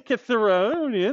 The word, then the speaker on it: Cithaeronian: And when he was 18 years old, out with the herd, he killed the Cithaeronian lion. That's exactly how you pronounce it.